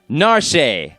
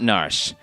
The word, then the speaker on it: Narshe: So these are the Japanese pronunciations. You can switch to these pronunciations if you want or not. It's up to you. Here we go. We have Narshe and not Narshe.